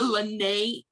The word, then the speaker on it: Lana': same it's and a lot of people don't know how to pronounce my middle name but it's lennae it's m-i-a-l-a-n-a-t-e-r and i'm